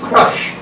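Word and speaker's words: Chrusch: Harry Crush, C-H-R-U-S-C-H, which I've learned is pronounced Crush.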